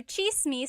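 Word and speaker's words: tsismis: One thing in the gall spelled with a ts. The ts combination makes that cha- sound.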